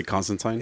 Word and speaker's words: Constantine: okay and I yeah I can't get my my brain to flip it to say Constantine yeah yeah it sounds weird yeah but it's technically the right pronunciation don't get crazy with